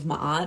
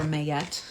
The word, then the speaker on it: Ma'at: off of the 42 ideals of ma'at or mayette depending on how you pronounce it which are basically the